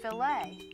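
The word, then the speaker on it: filet: If you're speaking about meat cookery, the French word f i l e t, it's pronounced filt. And that's the proper way to talk about a filt of beef.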